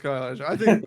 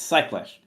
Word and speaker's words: Cyclash: You've pronounced my name incorrectly twice. It's Cyclash. Cyclash? It's Cyc, not Sky.